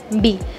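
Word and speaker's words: 日: Y después, para los días de la semana, ese carácter se pronuncia bi, como por ejemplo getsuyobi, kayobi. Es como, termina todo con bi, ¿no? Todos los días de la semana termina con bi, que es el carácter ese.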